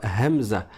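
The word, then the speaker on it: همزة: C'est le son e. Le son e, c'est pas difficile pour les francophones de le prononcer parce que on le prononce quand on dit la lettre A.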